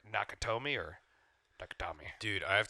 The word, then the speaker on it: Nakatomi: one I'm talking about nakatomi Plaza I said nakami I was close nakatomi Michel sucks no